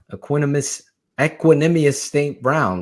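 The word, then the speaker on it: Equanimeous St. Brown: Brown, Equanimous St. Brown. Look at me saying it right, AB. Ecuador, that's what I call it.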